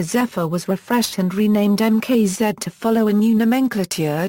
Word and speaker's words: MKZ: Management at Lincoln originally announced the MKZ with the Mark Z pronunciation during the 2006 auto show circuit, but eventually changed it to the phonetic MKZ due to confusion observed among focus groups and dealership personnel.